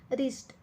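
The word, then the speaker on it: wrist: त्याच्या खाली अंडरलाईन केली रिस्ट रिस्ट मध्ये पहा डब्ल्यू चा उच्चार होत नाही आर आय एस टी रिस्ट चा उच्चार होतो फक्त म्हणून डब्ल्यू खाली आपण अंडरलाईन केली पाम पाम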